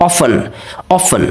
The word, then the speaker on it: often: Okay, T is a silent. Often. Okay, not a often.